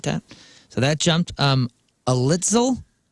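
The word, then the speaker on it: Alitzel: so that jumped um alitel a alitel in that old car alitel a l i t z l alitel alitel alitel alitel it sounds like a pretzel company yeah alitel 's pretzels emrin e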